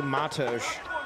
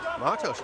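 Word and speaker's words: Matouš: I say Matosh. Matosh, okay. Yeah, so I have the bad habit of putting the emphasis on the second syllable in Slavic names and words because it's Russian, but the accent, the accent should be on the first syllable.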